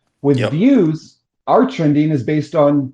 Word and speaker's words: Veews: app on Hive called Veews, Veews, as far as I know. Is that how you pronounce it, Blaine? Yeah, it's just views. We just spell it differently because we're weird like that.